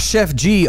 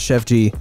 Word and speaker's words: Sheff G: don't know anything about Chef G and it's spelled s h e FF so he doesn't cook you know what I'm saying